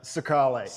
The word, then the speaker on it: Secale: I don't know if it's Secale, but Is it Secale or Secale? Uh Secale. And if if you look, I know the camera might not be able to see it.